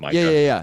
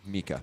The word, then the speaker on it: MiCA: pronunciation. It's Mika, Oh, not Micah. yeah. Okay. Mika.